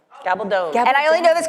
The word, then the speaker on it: Gabaldon: and say, I actually now know how to pronounce Diana's last name. Oh, I feel I'm about to be corrected. Gabaldon. Gabaldon. Gabaldon.